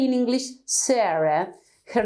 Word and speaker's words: Sara: If you compare when we say in English Sarah, her name is Sarah, we don't say Sarah in Spanish, we say Sara.